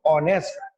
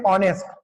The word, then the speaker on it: honest: यहां पर क्या हो रहा है? HONEST, ऑनेस्ट। What is there? H is silent, यहां पर H क्या है? साइलेंट है, ऑनेस्ट।